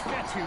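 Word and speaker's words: Fetu: be spotted at the 32-yard line so coach fetthy spelled f-e-t-u for the longest time i was pronouncing it coach jetta like fedex so let's just say i'm thankful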